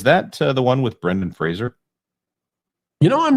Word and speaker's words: Fraser: It's not Fraser, it's Fraser.